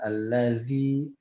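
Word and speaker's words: الذي: Ujung lidah ketemu ujung gigi sari atas al-lazi wal-lazi. Nah, seperti itu. Ya, jadi jangan sampai jangan sampai nanti al-lazi bacanya al-lazi kayak huruf zai.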